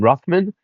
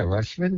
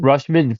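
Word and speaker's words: Rutschman: And then the catcher for Baltimore, how do you pronounce his name? Ruffman. Um, yo, Rush. Yeah, Rushman. Rushman for $12.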